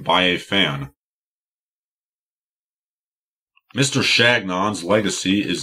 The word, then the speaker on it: Chagnon: Napoleon Chagnon I was reminded of the proper pronunciation of his name by a fan mr. Shannon's legacy is not one of summing the eyes